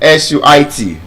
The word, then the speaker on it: suit: And then SUIT, the one we wear. Suit. Suit. Again, clear pronunciation.